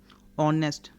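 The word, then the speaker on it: honest: ऑनेस्ट, एच ओ एन ई एस टी, ऑनेस्ट, ऑनेस्ट, एच की sound ही नहीं आ रही, ह की साउंड ही नहीं आ रही, ऑनेस्ट।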